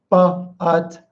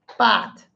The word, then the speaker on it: but: But. It's not but. That's so most people will pronounce this. But, cop, up.